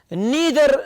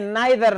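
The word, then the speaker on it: neither: तीसरे को देखे, नीदर नार, या फिर आप कह सकते हैं नाइदर नार, both are correct pronunciations, right.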